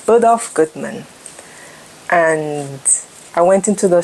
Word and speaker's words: Bergdorf Goodman: Never been to Bergdorf Goldman. Never been to Bergdorf. I've never been to. Let me say it right. Bergdorf Goodman. Bergdorf Goodman.